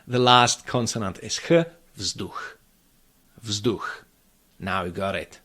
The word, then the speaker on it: vzduch: There mustn't be any residual schwa, quasi-schwa sound like vzduch. It's vzduch, vzduch.